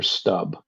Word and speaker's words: Stubb: Then that Alexander Stubb from Norway, I believe, he says, might be pronounced Stub.